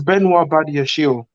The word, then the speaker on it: Benoit Badiashile: It's Benoit Badiashile.